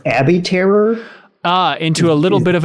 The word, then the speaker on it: abattoir: area into an abattoir so we know this word is a BA TT o IR I believe that's pronounced Abby terror into a little bit